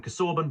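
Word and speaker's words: Casaubon: I've heard intellectuals call him Cassorbin, but I prefer Cassabon. That's what I would naturally say.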